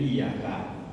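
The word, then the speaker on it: إِيَّاكَ: Qara'a as-sab'ah wal jumhur bitasdidil ya min iyyaka. Jumhur ulama dan qiraah sab'ah membacanya dengan mentasdid ya, iyyaka. Meskipun ada sebagian yang membaca tanpa tasdid ya, tapi pendapat yang benar adalah yang tasdid.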